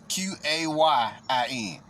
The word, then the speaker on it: Qayin: Kayin is spelled Qayin. Qayin.